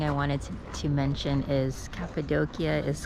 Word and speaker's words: Cappadocia: It used to be Capidoshia Capidokia, but yeah, now it's pronounced Capidokia apparently.